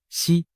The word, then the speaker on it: 石: 胡锦涛，实在某些方言里读作西，实难逃